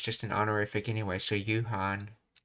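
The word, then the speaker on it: 夕飯: そろそろ He said Yuhan, not you Gohan. Yeah, you Gohan would be the full way of saying it, but you could, I guess you could shorten it. You Gohan. Yeah, it would be written like this, you Gohan. But he just takes the go off, which is just an honorific anyway, so Yuhan.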